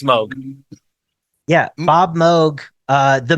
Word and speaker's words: Moog: yeah moo moo Mo yes it's it's it's pronounced Moog yeah yeah get the out of here it's it's Moog yeah Bob Moog uh the Moog Factory and